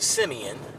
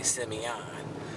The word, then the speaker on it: Simeon: Now, Simeon High School is known for, some people pronounce it Simeon, but we say Simeon.